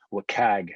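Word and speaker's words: WCAG: point is the web content accessibility guidelines or what cag as as it's pronounced so the web content accessibility guidelines it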